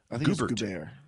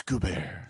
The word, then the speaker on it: Gobert: is gone Oh Melinda how do you pronounce her name cuz I want to say goobers goobers there ain't no GU bear it's good bear so it's Gobert it is not GU Burt well I mean just